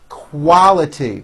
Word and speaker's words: quality: the use of alcohol quality your tongue should come up slowly for the L quality this shirt is made